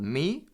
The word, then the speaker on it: Mi: you're looking at it a major third can be called me spelled Mi I a perfect fourth